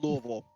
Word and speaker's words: Louisville: things about Kentucky not Louisville Louisville we have three big cities and that's the worst one now is it Louisville or is it louville it's Louisville if you say Louisville I'm